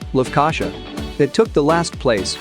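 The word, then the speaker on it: Lefkoşa: will be the nicosia region or as the locals say lufkasha it took the last place only because it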